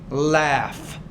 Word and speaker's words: laugh: For example, the TOUGH is more of an F consonant sound. For example, in the word tough, tough. Kind of similar to laugh, laugh.